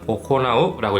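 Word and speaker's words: 行う: 이쿠라는 한자에서 이라고 읽었으니까 여기도 이라고 읽어서 이유라고 읽는 건가? 라고 생각하시는 분들이 있을 수 있지만은 이 한자는 오코나우라고 읽습니다. 이런 식으로 같은 한자인데 다르게 읽는 경우가 있다는 거예요.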